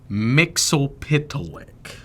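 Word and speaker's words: Mxyzptlk: Muel you say in the show they pronounce it Mixel Pitilik. It's Mitsius Spitlick.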